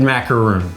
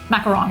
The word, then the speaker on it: macaron: actually said macarons and you said macaroon. Macaron. And so I want to make sure that we're doing it right. So I brought a little bit of a help here with the American pronunciation of what this should be. So let's see if this works. Macaron. There you go, macaron.